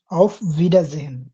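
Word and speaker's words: Auf Wiedersehen: আউফ ভিডারসেন, অফ ভিডাজেহেন। ভিডাজেহেন, যদি উচ্চারণটা usually এরকম করে করা হয় না যে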